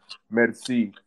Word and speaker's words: Merci: means thank you in French and the correct pronunciation is uh Medi but uh we Americanized it to make it